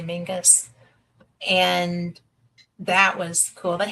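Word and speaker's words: Menzies: It's spelled Menses, but they say Mingus.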